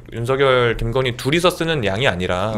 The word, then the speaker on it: 윤석열: 근데이 그 윤성열이 제가 이제 발음을 할 때 윤성열 이렇게 발음을 하거든요. 예. 네. 근데 이제 대부분 윤석열 이렇게 발음하잖아요. 뭐가 맞나요? 그니까 아 이거는 한자로 보면 윤석이 맞는데 그 얘기를 하더라고요. 본인이 이제 원하는게 윤성열로 들리길 바랬다고.